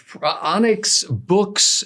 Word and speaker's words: Boox: This is the Onyx Books Nova Pro. Books is spelled Boox.